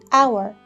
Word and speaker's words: hour: in all the words there are silent age letters in some of the words we do not pronounce them what are these words listen again Hotel happy hour hello hand home hi honor very good it's the edge in our and honor now let's read this poem